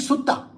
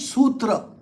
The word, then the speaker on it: sutra: Our pronunciations are Sanskrit pronunciations. So we pronounce it correctly. They call it suta. We call it sutra.